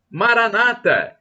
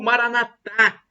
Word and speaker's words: Maranata: Jesus Eu amo Jesus Maranata como dizem os protestantes e evangélicos com a tônica na penúltima sílaba ou Maranata como dizem os católicos com a tônica na última sílaba não importa somos todos